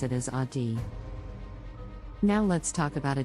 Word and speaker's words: Audi: The correct pronunciation is Audi with the emphasis on the first syllable. Many people mispronounce it as Audi.